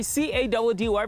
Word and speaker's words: Caddy: It's mission time with your boy C-A-D-D-Y, pronounced Caddy.